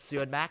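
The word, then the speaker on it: Siodmak: name is Kurt sudbeck do not be intimidated by the o with a slash with it by the way I think it's uh is how it's pronounced so it's sued back okay okay I'm gonna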